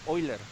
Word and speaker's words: Euler: explicar la recta de hoy leer si escribe euler se pronuncia hoy leer de qué se trata